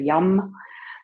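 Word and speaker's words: yam: So we would spell it Y-A-M, but we pronounce it Y slightly with a U-M, like a YUM.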